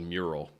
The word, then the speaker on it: Mural: Is so there's this product called Mural. It's like neural with an N, but spelled with an M.